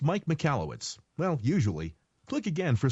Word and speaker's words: Michalowicz: click it and see what you think it's pronounced Mike mallwitz well usually click again for some let's say